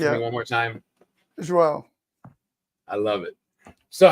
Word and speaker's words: João: It's João.